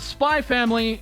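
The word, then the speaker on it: SPY×FAMILY: And yes, as Miria with Kometa would make clear, it's pronounced Spy Family, no X or cross, but as Virgil may say, it is also maybe now known as Spy Times Family.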